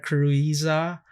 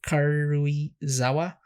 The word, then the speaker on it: Karuizawa: As far as the last episode, I believe the mythical traveling restaurant Kuruiza. How do you say it? Karuizawa.